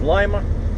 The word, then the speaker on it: Lima: She says Lima, like without hesitation. So okay, so in the case of Lima, the rules of pronunciation do apply.